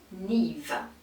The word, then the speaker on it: Niamh: Et ça se dit Niamh. Niamh.